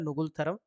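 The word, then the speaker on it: Ngultrum: ठीक है, इसका ऐसा ही उच्चारण होता है नुगुलथरम।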